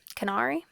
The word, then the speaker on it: Canari: Canari. It sounded like Canary, like the bird when they first said it, but it is it's spelled like this.